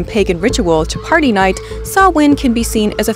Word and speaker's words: Samhain: Halloween has roots in the Celtic Festival of sawin a festival whose spelling and pronunciation is perfectly designed to break the brains